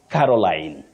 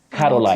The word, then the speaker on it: Caroline: The name, you say Caroline. Caroline. Okay, don't say Caroline. Caroline, no. Caroline. Now, Caroline.